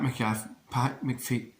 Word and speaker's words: McAfee: Pat McAfee, that's how you say it.